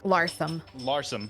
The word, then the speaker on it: Larsham: Larsum. Larsum. We're going guy to that made Larsum.